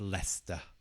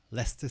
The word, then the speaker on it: Leicester: a difficult word for some people this is pronounces Lester Lester Lester City Leicester City Liverpool Liverpool again stresses on the first